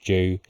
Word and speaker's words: jus: Just joking, I know it's pronounced Jew. Red wine Jew, I'm only joking, I know.